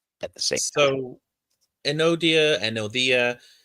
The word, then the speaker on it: Enodia: work on pronunciations um an odia is actually pronounced more like anodia because the the d that we see is a the sound and so enodia rather than anodia is more accurate.